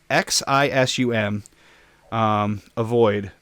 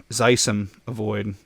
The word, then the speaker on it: Xisumavoid: See, it's Xisum avoid. So Zisum avoid. Zisum avoid. That's how I'm going to pronounce it.